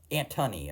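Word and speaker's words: Antony: I mean Anthony Stars antthony I think is how it's actually pronounced not Anthony but his performance is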